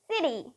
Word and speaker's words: city: forgot the word it's city city now you might be thinking hey wait hold on oh you said that when the t is between two vowel sounds we pronounce it as a d but now we have